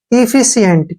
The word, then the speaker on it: efficient: यहाँ पे ध्यान से देखिए, सी का उच्चारण शय के रूप में करेंगे और आई से ई की मात्रा हो गई, ठीक है ना। और ई का उच्चारण ए के रूप में करेंगे, एन से न हो गया, टी से टे।